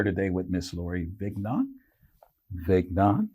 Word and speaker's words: Vignaud: Vignaud, you pronounce that right. It's a French last name, by the way.